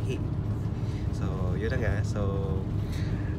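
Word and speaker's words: Huế: nakuha Ay going to Ano babasahin h parang who kung sa English pero sa kanila they will pronounce it as he So yun na nga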